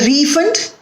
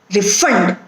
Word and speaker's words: refund: cannot refund your money in the first sentence the word refund is used as a noun and therefore the stress is on the first syllable that is re can i get a refund no i cannot refund your money here the stress is on the second syllable refund so here it is